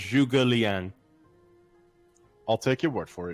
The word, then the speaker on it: Zhuge Liang: It's pronounced Zhuge Liang.